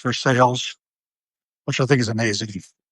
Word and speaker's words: Versailles: You know, there's a neighborhood not far from there called North Versailles, spelled like Versailles, but it's pronounced Versailles, which I think is amazing and lovely in that Western Pennsylvania manner.